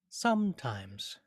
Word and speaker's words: sometimes: Do you notice how in sometimes the first syllable some has more weight or accent or stress than the second syllable times, sometimes? We might say it's more like bum bum, bum bum, sometimes.